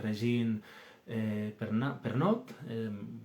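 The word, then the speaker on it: Régine Pernoud: la Edad Media, de Regine Pernot. Lo digo, es francesa, es una autora francesa, y yo pues lo pronuncio así, pero bueno, quien quiera pues lo puede buscar.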